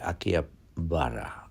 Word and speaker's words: Akihabara: মনে হচ্ছে আকিয়া পারা বলা হচ্ছে বাট কারেক্ট উচ্চারণটা হবে আকিয়া বারা বাট জাপানিজ স্টাইলে বলতে গেলে ওরা যখন জিজ্ঞাসা